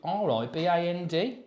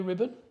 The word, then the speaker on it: riband: And that's like, it's not a silent D. You are meant to pronounce it's it. written blue, R-I-B-A-N-D, blue riband. I wonder where that name came from. I don't know, but why do we all call it blue ribbon?